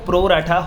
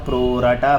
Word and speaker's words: pro rata: ठीक है, कि वो प्रो राटा होगा कैसे। सेकंड टाइप कौन सा था? प्रो राटा, प्रो रेटा। जैसे आपका प्रोनाउंसिएशन वैसे आप प्रोनाउंस कर सकते हो, कोई मना नहीं करता।